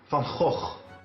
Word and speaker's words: Van Gogh: The correct Dutch pronunciation is Vincent Van Gogh.